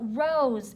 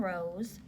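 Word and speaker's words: Rows: To be accurate, it has a homophone, which is a word that's pronounced the same as another word, but spelled differently.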